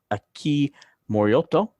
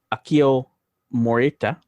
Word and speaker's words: Akio Morita: by the name of aki moriotto or sorry akio morita like uh pat morita from karate kid oh karate kid i